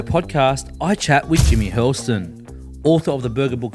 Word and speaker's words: Hurlston: Jimmy Hurlston. What's going on? Is that the way you pronounce it? Yeah, nailed it.